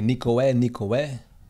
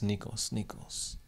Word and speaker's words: Nikos: Also, by the way, the sigma in my name is pronounced like an S. Because you used to say Nikoe, but it's Nikos.